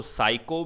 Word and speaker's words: psycho: है साइको अच्छा देखो साइको में जो पी स्पेलिंग है वो साइलेंट होती है ठीक है तो एक